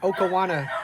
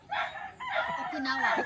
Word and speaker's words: Okinawa: Let us know what Okawana stands for. Is that how you say it? Okawana? Okinawa.